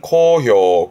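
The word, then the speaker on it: 好評: 발음은 코효.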